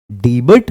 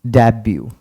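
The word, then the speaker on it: debut: बट अगर आप इसको डी बट पढ़ रहे हैं तो गलत है क्योंकि इसको हम डेब्यू बोलते हैं लिखते हैं डीई बी यूटी इट्स डेब्यू एंड the next one एंड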